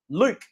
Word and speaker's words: Luke: They're also going to give you 5% off if you use promo code Luke. It's L-U-K-E, capital letters. You can't forget it. It rhymes with puke.